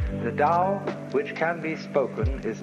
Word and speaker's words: Tao: called the Dal t-a-o pronounced Dao in the Mandarin dialect Tau in the Shanghai dialect toe and the company's